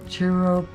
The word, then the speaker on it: chiropodist: And does anybody know how to pronounce that word? Chiropodist?